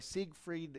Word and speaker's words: Siegfried: not there while performing see greed in roy siegfried & Roy is how you say their names